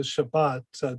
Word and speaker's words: Shabbat: In the same way that we might say Good Shabbos as opposed to Shabbat, different Jews pronounce the same words a little bit differently.